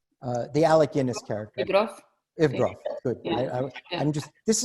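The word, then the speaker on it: Yevgraf: Yegorov? How is it pronounced? The Alec Guinness character. Ivgrov.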